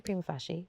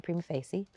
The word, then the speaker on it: Prima Facie: Everyone pronounces it differently. I say Prima Facie. Some people say Prima Facie.